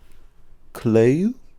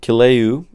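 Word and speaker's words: Kīlauea: Last little actual topic I had was Hawaii's Kaleu. Oh, man, my mom's gonna kill me every time I mispronounce a word.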